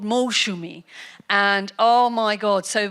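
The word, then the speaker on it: Moushumi: It was the problem with the S. They didn't put the H in, and so she turned into Masumi, Mausumi, and this beautiful Bengali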